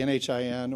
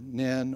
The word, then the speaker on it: NHIN: Nationwide Health Information Network, or the NHIN, or NIN, or NHIN. All of those are approved. We didn't standardize the pronunciation of the acronym, and we don't hope to be able to do that, despite many efforts to have an official pronunciation of it.